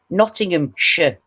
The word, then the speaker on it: Nottinghamshire: to pronounce things because they say shyer cheshire and we it's cheshire nottinghamshire not shire you don't eat so